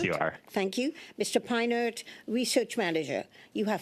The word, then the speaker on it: Peinert: Am I pronouncing your name properly, Mr. Peinert? Yes, you are. Thank you. Mr. Peinert, Research Manager.